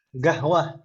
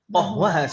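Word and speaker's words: قهوة: Ada juga sebagian negara yang G itu adalah huruf qaf. Gahwah. Ya kan Ibu ya? Gahwah. Qahwah aslinya qahwah, kopi qahwah.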